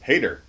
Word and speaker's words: HDR: book by himself anymore yes how do you pronounce HDR where HDR as soon that's Hader Hader Hader Bill Hader Hader yes yeah so